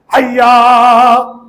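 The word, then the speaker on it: حَيَّ: حیا، الف نہیں ہے سرکار، ہجے کروں کیا؟ ہا یا زبر حی، یا زبر یا، حیا. آگے کیا؟ عین زبر آ، پھر لام زبر لا.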